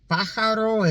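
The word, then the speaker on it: pájaro: Paro is how you say bird.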